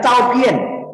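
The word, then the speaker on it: 照片: A itu bacanya Chao-Pien.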